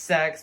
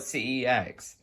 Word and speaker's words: CeX: I know it's pronounced sex, but I prefer to call it CEX.